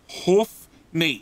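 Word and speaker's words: Hoofknee: Please good say g'day, mate, to my good friend, Hoofney. It is pronounced and spelt H-O-O-F-K-N-E-E.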